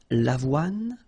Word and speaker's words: avoine: L'avoine, le blé, le maïs, le millet. So let's repeat them. L'avoine, remember, don't insist on the final E. L'avoine, le blé, here, accent aigu, et le maïs.